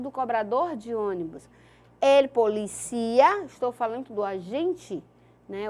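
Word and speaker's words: policía: Ele policia, pronuncia assim, policia, tá?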